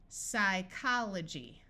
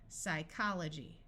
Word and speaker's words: psychology: PS says S. Psychology. Note that the Y at the end of a syllable has a long I sound, and this G takes on the J sound because of the Y.